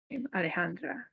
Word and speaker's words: Alejandra: That's how you say my name, Alejandra. Alejandra. It's not Alejandra, it's not Alejandra, it's not Alejandro or whatever. It's Alejandra.